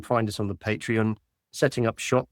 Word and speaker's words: Setting up Shoppe: us on the Patreon setting up shop. Shop is spelled sh h o pp p e.